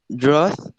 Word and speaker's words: drought: remembers rhymes with thor drought must always rhyme with bowed daughter leave the gh